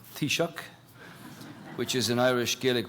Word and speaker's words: Taoiseach: Thank You Toby and 10 out of 10 for your pronunciation of Tisha which is an Irish